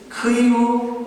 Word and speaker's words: 키이우: 크이우, 원래 우크라이나 발음은 크이우인데, 한국 어학원에서 정한 그 규칙으로 하면 키이우가 됩니다.